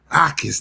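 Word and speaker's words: Jacas: Ais the J is silent.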